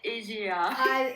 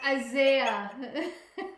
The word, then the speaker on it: Isaiah: I don't know how to pronounce his name, but yay, Asia. Isaiah.